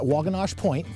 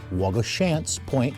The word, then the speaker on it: Waugoshance Point: there okay so day two at wagos point I'm sorry Wago shant Point that's how it's pronounced uh so all all